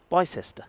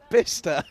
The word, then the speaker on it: Bicester: Here's one to pronounce. Bicester. No. Bicester. No. Bister.